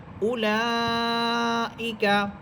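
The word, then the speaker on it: أولئك: এখানে একটা বিষয় দেখেন, হামজা পেশ উ, এখানে হামজার পরে একটা ওয়াও আছে, কিন্তু ওয়াও হরফের উপরে বা নিচে কোনো এই হরকত বা কোনো চিহ্ন নেই। অতএব এই ওয়াওটা শুধু লেখার মধ্যেই থাকবে, পড়তে হবে না, পড়ার মধ্যে আসবে না, শুধু লেখাতেই থাকবে।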